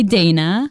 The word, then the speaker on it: Dannah: great um oh yes earlier i said dana that's how you pronounce my name in spanish i also go by dana you know um and